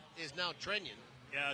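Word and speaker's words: Trenin: the pronunciation is now Trennian. Yeah, it's one of those situations where the player says their name, and that's, you definitely hear the yin, the extra little syllable in it.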